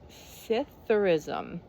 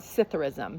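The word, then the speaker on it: psithurism: rustling of leaves now I don't know how to pronounce it cism I'm going to I'm going to call it cism because the p is probably silent cism how have you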